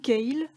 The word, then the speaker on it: kale: de très longs tiges voici le chou kale ou chou Calais prononcé à la française c'est un petit goût